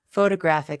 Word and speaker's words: photographic: For example, photograph noun is stressed on the first syllable. Photographic adjective is stressed on the third.